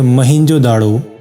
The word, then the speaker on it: موہنجو داڑو: سے معلوم ہوگا کہ صحیح تلفظ ہے موہنجو داڑو، اور کچھ لوگ موہنجو داڑو بھی کہتے ہیں۔ دونوں کے معنی ہے